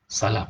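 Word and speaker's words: سلام: Salam. Ya, sin, lam, alif, mim. Salam. Tapi ada perawi yang lain namanya salam. Jadi ejaan dia sama, cuma ada sabdu salam.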